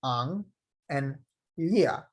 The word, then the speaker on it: Anlia: It is pronounced ang and lia.